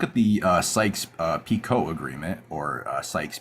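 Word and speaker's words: Picot: Yeah, look at the uh Sykes uh Pico agreement or Sykes Piccott depending on how you want to pronounce it. It's Pico in French, but PI O T.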